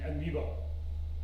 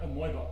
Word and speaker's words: amoeba: English is spelled oi, but it's pronounced E, as in amoeba. It's not amoeba.